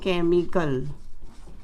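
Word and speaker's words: chemical: जैसे च उच्चारण वाले शब्द हैं चैरिटी, दूसरा है क उच्चारण वाले शब्द जैसे केमिकल, नेक्स्ट श उच्चारण वाले शब्द हैं CHEF, इसे पढ़ते हैं शेफ।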